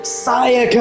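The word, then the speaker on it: Sayaka: Saiaka.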